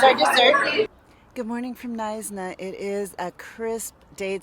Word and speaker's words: Knysna: So the city is called Knysna. It's spelled K-N-Y-S-A. You don't pronounce the K.